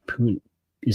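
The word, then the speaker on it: Puni: took off Dominic pun is it puny or puny I would guess puny puny like tiny check I have pronunciation notes if you'll give me a second I'll be happy to tell you P uni Tyron Hopper according to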